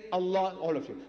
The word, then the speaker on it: Allah: l a h is Allah not say say Allah all of you say Allah Allah see not Al but you can write a l h but don't say Al say Allah Allah so she L